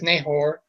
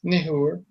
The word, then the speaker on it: Nahor: Neahor uh Abra Abram's brother Nehor people say it as Nahor, but it's Nehor.